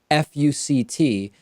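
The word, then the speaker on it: FUCT: particular its pronunciation and justice Elena Kagan says that the clothing brand is pronounced as four letters one after the other fu C T but you could read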